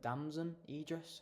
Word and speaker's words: Damson Idris: Yeah, obviously has dam Damon Damson Idris. I can never pronounce his name.